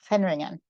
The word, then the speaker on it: Hendringen: So the G is pronounced gutturally, Hendringen.